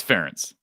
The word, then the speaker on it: Ferentz: It's Ferentz.